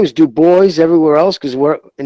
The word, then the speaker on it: Dubois: people in the northeast calling them dubois it's dubois it's the boy yeah it's french does it